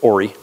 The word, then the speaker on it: Horry: the main building at Horry Georgetown Technical College it's a strange-looking title that's printed that's not Horry it's Horry the H is silent it's it's the name